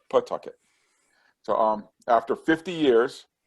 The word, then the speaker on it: Pawtucket: being in pawtucket and it's spelled pawtucket but it said pawtucket so um after 50